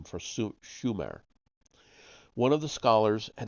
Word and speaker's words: Sumer: land and Su ex except for mispronouncing the name it should have been Schumer not Sumer opert was right Sumer